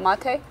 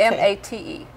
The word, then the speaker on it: mate: M-A-T-E. It looks like mate, but it's mate.